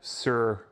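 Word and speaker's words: Suhr: or a whitfill or is this sir or sure sure is the microphone brand sir it's a guitar brand like like pardon me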